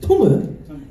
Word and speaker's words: Tomo: He said, my name is Tomo. You are Tomu, is how it would be pronounced in Japanese.